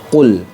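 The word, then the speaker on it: قل: atau huruf contoh nah seperti itu harusnya Qul jadi lamnya ini dibaca jelas dibaca jelas jadi tidak boleh dipantulkan Nah itu tidak boleh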